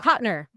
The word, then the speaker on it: Cotnoir: Cotner.